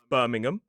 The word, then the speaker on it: Birmingham: But when it's a suffix at the end of a place name, we commonly pronounce it. So the H disappears and the vowel reduces to awah.